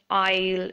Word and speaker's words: isle: the S word is s letter is silent island Isle and debris i'll means a small